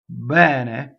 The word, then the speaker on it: bene: Momento, bene, bene, bene, not bene, not bene. You don't hold it too long. Bene. Notice that bene, right, is open E.